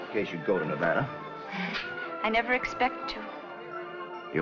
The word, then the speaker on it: Nevada: By the way, that's pronounced Nevada. I notice you give it the broad ah. I prefer it to a dreadful flat ah.